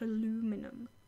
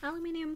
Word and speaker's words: aluminium: It's not aluminum. I disagree. Aluminium sounds better. Ammunition, powder, bullets, shells, etc. Facts, etc. used against someone in an argument. I'm not getting into this debate. It is the correct pronunciation for me. You can pronounce it however you like, but you're wrong.